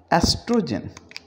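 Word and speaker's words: oestrogen: एंड we start with again एस्ट्रोजन, ओ को इसमें भी हम नहीं बोलेंगे।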